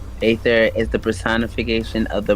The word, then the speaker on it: Aether: In Greek mythology, Aether, ancient god, pronounced Aether, is the personification of the bright upper sky.